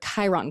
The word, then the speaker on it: Chiron: It's interesting because Chiron starts with a C, but it sounds like a K.